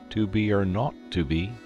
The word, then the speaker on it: 2BR02B: The 0 in the number he pronounced not. The number was 2BR02B.